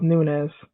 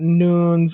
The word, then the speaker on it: Nunes: agreement with me that it is pronounced Nunez it's not Nunes or Nunez thank you for that